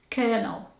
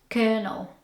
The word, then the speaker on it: colonel: the way it's spelled the O sound is not pronounced the way that you expect it to and the L is silent so it sounds like